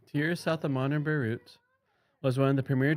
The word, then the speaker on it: Beirut: South of modern Beirut was one of the premier training cities of the Middle Eastern Mediterranean world.